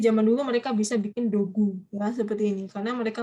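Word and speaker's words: 土偶: Dogu. Dogu. Disney gunya panjang ya.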